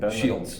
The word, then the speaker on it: Shields: Shields. Shields. Yep. Right. Just how it's out there. Just out Sword and Shields.